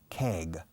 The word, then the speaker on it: keg: Now, that keg of beer, keg, como leg, pierna, quitando la L y poniendo la letra anterior, que es una K.